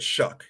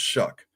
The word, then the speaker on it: Shough: You say it Shuck. It's Shough, but it is pronounced Shuck.